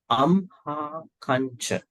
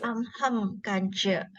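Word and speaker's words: amhākañca: Ahang is more like I, but here amha kancha. Amha kancha. Amham kancha. Not amham. Amha. Amhang kancha. Not amhang. Don't say hang. Forget about this ahang. Forget about this one.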